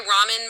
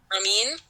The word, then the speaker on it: Ramin: I want to make sure I pronounce the director's name correctly. Um, where's the director information? Um, directed by Ramen Baharani, Ramin, and starring um, Priyanka Chopra.